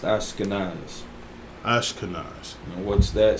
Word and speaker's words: Ashkenaz: I believe this would just be pronounced Ashkenaz.